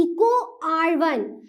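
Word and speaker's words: EcoRI: अब कोई इसको ऐसा नहीं पढ़ेगा E.CO को लिखा है, फिर कुछ R लिखा है, फिर ये फर्स्ट लिखा है, नहीं, इसको प्रोनाउंसिएट मतलब इसका उच्चारण, इसको बोलना किस प्रकार से बोलते हैं, इसको बोलते हैं इको R1।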